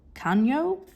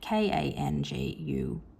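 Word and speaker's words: Kangyo: Sailor Kanyo, let's go with. That is definitely not how you say it. Kangyu. In Japanese, kanyu means promotion of industry.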